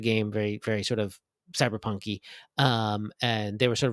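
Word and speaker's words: CBR+PNK: um it I mean I guess you would pronounce it cyberpunk but it's spelled CBR plus sign pnk um cyber Punk um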